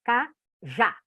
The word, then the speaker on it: cajá: Cajá. Eu sei que o já é a sílaba tônica. Eu sei que a última sílaba é a tônica, é mais forte. Então, eu já tenho um oxítona aí.